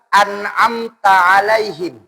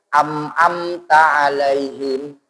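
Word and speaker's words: أنعمت عليهم: di kalimat an'amta alaihim, masih ada imam yang membacanya di hamzah semua, Pak. An'amta alaihim. Atau ada yang terbalik, ainnya yang di depan. An'amta alaihim. Bahkan sekali ketika di Kalimantan Barat, di daerah pasir air hitam, saya dengar imam membacanya itu am'amta alaihim.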